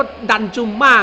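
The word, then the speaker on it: ดันจุมา: ยิง นอก กรอบ ของ ดันทุมา ครับ บอล สาย นิด หน่อย ครับ ติด ไซก่อย ครับ โอ้โห 1 ประตู ต่อ 1 จน ได้ ครับ อ่าน ว่า ดัน จุ่ม มาก ครับ ใน นาที ที่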